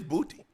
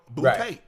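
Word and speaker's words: Boutte: So, he said it's booty. But y'all get mad at me because I thought because it's spelled cuz when I first saw him at LSU, oo, I thought it bouty.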